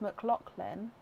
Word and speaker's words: McLaughlin: Surname is pronounced McLaughlin. Oh really? I thought because it had the muck, then it's a laugh in the middle. Laughlin. If I've mispronounced that as well, I'm so sorry. I didn't know how to get the. How does the laugh go into lock? Is it just one of those pronunciations?